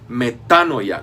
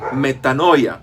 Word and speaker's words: metanoia: Así es, no la dije equivocadamente, Se dice metanoia, con acento en la primera A y no metanoia.